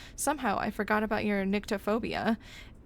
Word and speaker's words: nyctophobia: Or is it nycto? Sorry, I guess I don't know how to pronounce that correctly. How to pronounce nyctophobia. No, I was right. Nyctophobia. I was right first. Or at least according to a quick Google search.